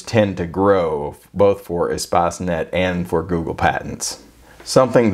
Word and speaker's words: Espacenet: search engine that i'm going to cover is espacinet or espacenet depending on the pronunciation they it is a product of the european patent office and they pronounce it espacenet so that's the pronunciation that i'm going to